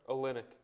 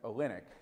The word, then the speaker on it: Olynyk: cavs win would keep kelly olnick did i pronounce that right olynyk thank you olynyk i didn't think i did from the second